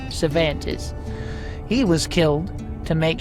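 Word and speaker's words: Cervantes: Now, if you don't have that written down, that's spelled how it sounds, which isn't very helpful. So, I'll spell it out. C E R V A N T E S. Cantis.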